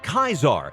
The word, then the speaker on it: Caesar: Fun fact, Caesar was pronounced as Kaisar, but we'll pronounce it as Caesar because it is more common.